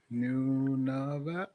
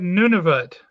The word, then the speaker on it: Nunavut: Nunavut. All right. I always hated. It's almost like Nineveh from the Bible, but not.